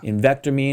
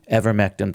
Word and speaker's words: ivermectin: Invectamine and all these other ones like that. Ivermectin, thank you.